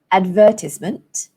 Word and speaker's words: advertisement: So in British English, the stress falls on the second syllable, advertisement.